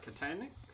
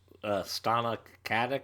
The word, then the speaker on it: Stana Katic: The thing online is that they're Castle and, Nathan Fillion and Katanik? How do you say her name? Stana Katic?